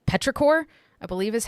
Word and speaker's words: petrichor: Yeah, it's called petrichor, I believe is how it is pronounced.